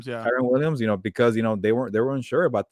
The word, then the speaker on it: Kyren Williams: Kyren Williams, Yeah. Kyren Williams, because they were unsure about the committee there.